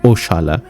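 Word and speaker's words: oxalá: Portuguese ভাষায় ও যারা শব্দটি আছে, যার উচ্চারণ ও শালা, এটা এসেছে আরবি ইনশাল্লাহ থেকে, এবং মানেও একই, আল্লাহ চাইলে।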